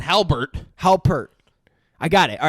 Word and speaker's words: Halpert: just Sean hambert Jim Jim Harbert Jim Halpert Halbert Christopher has some weirdest definitely